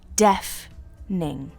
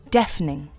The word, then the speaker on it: deafening: could say it's deafening the pronunciation is deaf ning deafening one more time deafening could you turn down